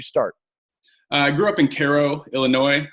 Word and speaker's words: Cairo: I grew up in Cairo Illinois it's spelled like Cairo Egypt but we mispronounce everything in southern Illinois so I grew up in Cairo Illinois it's a pretty